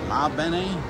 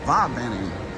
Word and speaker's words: Va Bene: I thought it was La Bene. It's Va Bene.